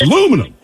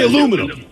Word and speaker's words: aluminum: And why do you say aluminium? That's so many syllables. It's aluminum. Just say aluminum.